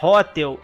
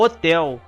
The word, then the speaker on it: Hotel: é o correto o golf hotel não é hôtel é o hotel a própria pronúncia já aparece ele ok hotel índia juliet